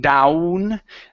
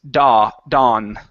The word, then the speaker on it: dawn: The W is not pronounced like an U in this word. So instead of saying down, the word is dawn.